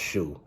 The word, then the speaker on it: Shou: Robin Shu, or Robin Shao, I think his name is pronounced Shu, did return as Liu Kang, but his performance here is more soulless.